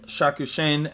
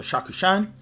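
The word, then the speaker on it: Shakushain: Um Shakushen that is uh how you pronounce it in English or Shakushin. And then uh in uh native pronunciation it would be Shaku Shan.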